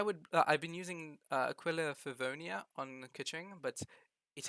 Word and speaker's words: Aquila Favonia: my personal opinion the aqualia i'm going to say it right one time in the future the aquila furvonia is the best weapon for